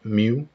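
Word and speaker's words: μ: in degree by the Greek letter micro or pronounced mu the factors determining the resistance in a magnetic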